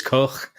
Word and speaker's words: Koch: I think Cock's name is Koch as well, but we just pronounce it Cock because it's better.